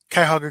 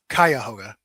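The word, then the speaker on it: Cuyahoga: And that's in Kayahoga County. Am I pronouncing that correctly? Kyhoga County. Yes. Okay. Kyhoga or Kayahoga. Kyahoga.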